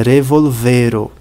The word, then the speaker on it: revolvero: Se fosse a sílaba tônica no primeiro o, a pronúncia seria revolvero. Se fosse no segundo o, a pronúncia seria revolvero. Mas não é nem revolvero, nem revolvero. É revolvero. Pronúncia tônica sobre o e.